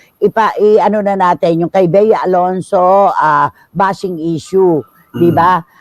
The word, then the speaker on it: Bea Alonzo: eh ' ba sabi sabi ng mga bers beya alonso ah Ang arte mo girl Super OA ka